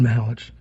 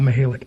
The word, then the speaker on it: Mihelich: So it is Mihelich. So there you go. Not Mihelich.